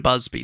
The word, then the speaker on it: Busby: And it's spelt Busby, but everyone, I watched a couple of documentaries, they're all calling him Busby, so I'm hoping I'm saying that right.